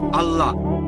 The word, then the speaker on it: আল্লাহ: এখন এটাই তাদের ভাষা একইভাবে আমরা জানি সঠিক উচ্চারণটা হচ্ছে আল্লাহ তারা বলে এলা আমরা বলি আল্লাহ সমস্যা নেই সঠিক উচ্চারণটা হচ্ছে আল্লাহ পরেফল বুঝলেন তিনি যেটা করেছেন তাতে কোরনের কাছাকাছি এসে গেছে।